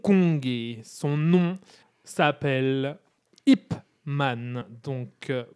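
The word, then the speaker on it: Ip Man: et son nom s'appelle Ipman. Donc pour la bonne prononciation, je vais dire IPman pour que tout le monde la note bien parce que j'ai vu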